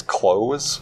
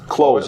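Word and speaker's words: Clowes: I think it's Close. Close. Okay. Yep. C-L-O-W-E-S.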